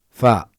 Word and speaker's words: ف: the pronunciation is different its sound is like the first letter in fine and its name is far we can find it